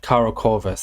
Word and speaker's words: KaraCorvus: So British people actually say it correctly more often than not, I think, because you don't really say Kara very much, right?